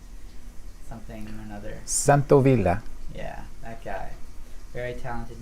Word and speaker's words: Santaolalla: Santaolalla.